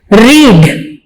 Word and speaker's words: read: इसके spelling same रहेंगे, लेकिन प्रोनाउंसिएशन तब्दील हो जाएगी, रेड बन जाएगा। READ ही होगा, लेकिन इसको रेड पढ़ेंगे, और थर्ड फॉर्म में भी इसको हम रेड पढ़ेंगे। रीड, रेड, रेड, spelling same होंगे।